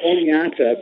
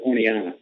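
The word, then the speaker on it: Oneonta: It's called Oneata, but the locals, it's a silent T, so it's more Oneana.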